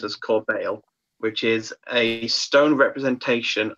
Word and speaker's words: corbeil: It's pronounced as Corbeil, which is a stone representation of a basket of flowers.